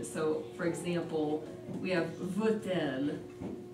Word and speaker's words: veut-elle: connect the two words, since elle begins with a vowel, so we pronounce the T in the middle.